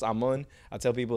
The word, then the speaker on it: Amun: is ammun but in in high school like i guess with the southern drawl everybody would say a moon a moon okay well see i've been saying it wrong the whole time and i'm like i'm on like i'm gonna raw like the sun god okay yeah so it's just i'm on i tell people it's